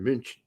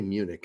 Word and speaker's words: München: And Bayern Munich, really, that's that British way. It's in Germany, it's Bayern München. We don't say Munich in Germany.